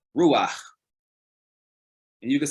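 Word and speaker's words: רוּחַ: concept of spirit, we see that it's actually pronounced ruah.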